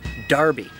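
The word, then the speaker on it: Enroughty: Probably the most famous example of a really weirdly pronounced name is how the name E-N-R-O-U-G-H-T-Y in Rufty is actually pronounced Darby.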